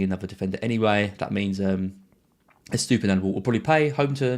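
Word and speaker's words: Estupiñán: a player, especially one as highly owned as Estepinian. So Estupinan, got to get his pronunciation right.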